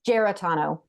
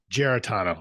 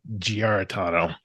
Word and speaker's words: Giarratano: It's Giarratano. Giarratano. I would have said Giarratano. So thank you. You probably are closer to the Italian pronunciation.